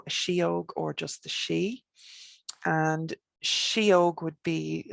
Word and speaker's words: sidhe: a fairy now a shiog or just the she and shiog would be like it's kind of